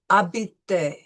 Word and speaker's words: habiter: So, habiter. N'oubliez pas que la lettre "h" est muette. Remember, do not forget that the H is silent. So, it'll be habiter.